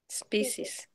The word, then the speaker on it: species: Yeah, this species. Species. Species. Species. But you don't pronounce the e. A species. No, you pronounce species.